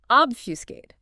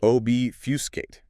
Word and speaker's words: obfuscate: Obfuscate. Obfus c a t. Obuscate. Three syllables, stress on the first.